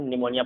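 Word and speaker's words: pneumonia: बाद एस हो या पी के बाद बी हो तो पी साइलेंट होता है। जैसे हम पढ़ेंगे पी के बाद एन है तो इसे हम निमोनिया पढ़ेंगे, पी साइलेंट है।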